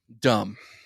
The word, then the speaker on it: dumb: it stupid or dumb dumb dumb because the B is silent I gonna start pronouncing